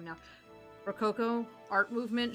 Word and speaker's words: Rococo: Rococo art movement, she pronounced it Rocococo. She put, like, way too many syllables in it.